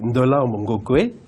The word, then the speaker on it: Ndolamb Ngokwey: Ndolambe Ngokwe, c'est trop difficile à prononcer, ça vient d'où? Pourtant, vous le prononcez si bien, madame. En fait, c'est Ndolambe Ngokwe.